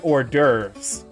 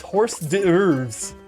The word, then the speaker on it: hors d'oeuvres: I knew the word hors d'oeuvres, and I had seen it spelled. I just didn't realize hors d'oeuvres was spelled like that. So I was like, yes, I don't know what they're talking about with these horse d'oeuvres, but they sound tasty.